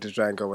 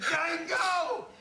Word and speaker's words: Django: Django! You black son of a bitch! The D is silent here, baby.